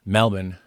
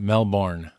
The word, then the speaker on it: Melbourne: And you don't know how that it's pronounced. Melbourne, not Melbourne.